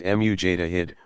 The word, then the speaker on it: Mujtahid: Pronounced Mujtahid, one who exercises independent investigation of the sacred sources.